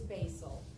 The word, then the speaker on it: Bassell: It is basil, Okay. just like the herb, but spelled different.